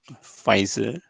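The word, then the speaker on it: Pfizer: the name here fiser I know it start with P but uh it's pronounced as uh fiser then uh Mona then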